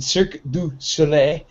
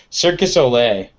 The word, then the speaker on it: Cirque du Soleil: have to pronounce it i really really enunciate it is because nobody ever does and that always sounds like circus olay what's what is circus